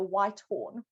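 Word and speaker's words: Whitehorn: like this um doll you pronounce my surname kind of how it's spelled so white horn yeah like the color and then a horn so the only way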